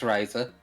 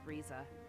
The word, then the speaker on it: Risa: running and he likes Riser he doesn't want her to die and that's a lot of wolves uh for the record it's pronounced RZA I'm sorry I I'm